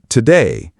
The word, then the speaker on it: today: The word today, the stress is on the second syllable. Today, not today.